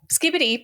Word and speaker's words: Skibidi: Yeah, no, it just Skibidi, pronounced like skippity, has no inherent meaning.